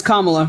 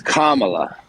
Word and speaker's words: Kamala: think I'm a racist it's comma How do I it's Kamala okay I just want